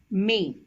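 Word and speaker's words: mais: over the letter i this is pronounced as May which means but and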